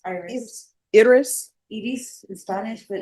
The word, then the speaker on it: Iris: Iris in Spanish, but it's Iris. All right. No, just tell me how to pronounce it.